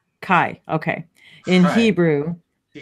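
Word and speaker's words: חי: Is that you pronounce it Chai? Kai.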